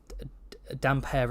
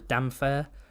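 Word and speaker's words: Damphair: you know the whole some people pronounce damp hair as damn fair or some people pronounce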